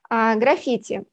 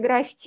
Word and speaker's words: граффити: итак начнем с терминологии граффити ударение на им первую но если вы скажете граффити ничего страшного мы так часто видим